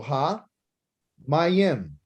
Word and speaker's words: hamayim: Okay, so ha, mayim. So if you want to say the water, you would say what? Hamayim.